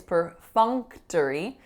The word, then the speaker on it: perfunctory: them closer together so instead of perfunctory which is even difficult to say it's perfunctory as if it was Fung Fung the third syllable is tough so t schwa and then Rhee is our final syllable perfunctory so our next word is